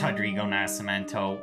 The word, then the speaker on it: Nascimento: It's Rodrigo Nascimento. We made a mistake with the pronunciation.